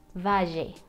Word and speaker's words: valle: But when you have a double L in Spanish, then you cannot pronounce this like if it was just one L. You need to make the sound of the J, like in jeans, J. For example, valle, valle.